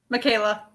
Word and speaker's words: Michaela: Makala. I've said it a couple times. Is that how you pronounce it? Makala? Michaela. Oh, Michaela. Oh, yeah. It's like Canada, only switch the consonants.